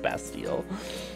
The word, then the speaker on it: Bastille: there or best deal I was not calling basket-like muses pronounced Bastille so that's we call